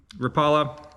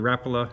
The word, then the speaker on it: Rapala: Hey gamers, just wanted to review the Rapala, or Rapala, however you want to pronounce it, tournament call-in scale.